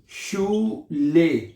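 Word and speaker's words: Schule: तो ये बनेगा शीन, यहां तक शीन हो गया, ऊ ले, शू ले, शू ले।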